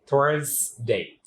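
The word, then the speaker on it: Thursday: দেন থার্সডে, এখানেও আপনাকে জ সাউন্ড উচ্চারণ করতে হবে, নট স সাউন্ড। থার্সডে।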